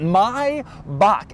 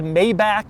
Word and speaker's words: Maybach: which is right here this is the correct way to say it my bach anybody who says maybach or maybach or my back it's all wrong my bach is correct people have tried to correct me about this before but they are wrong the germans say mybach and that is the way you're supposed to say it despite how it might be spelled now one other exterior